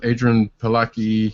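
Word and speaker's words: Adrianne Palicki: Anyway, next up we have Agents of S.H.I.E.L.D.'s Adrian Palicki. I guess that's how you pronounce the name.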